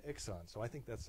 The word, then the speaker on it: iXon: I kind of prefer Icon, but then the salespeople at Andor call it an Ixon.